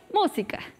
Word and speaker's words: música: Primero vamos a decir la palabra música. Y música, música, música, música. ¿Se dan cuenta? La primera sílaba es más fuerte y las otras dos son más chiquitas.